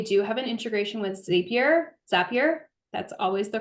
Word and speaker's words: Zapier: have an integration with Zapier. That's always the correct one. And it rhymes with happier. We've been told this. So Zapier is something that you